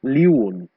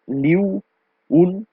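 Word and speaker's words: liu'un: So liun is liu un. Okay, there are like two syllables, and it is not li un.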